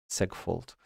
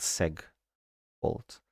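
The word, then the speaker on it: segfault: If a segmentation fault occurs uh then because it's short for segmentation, I guess it's pronounced seg fault.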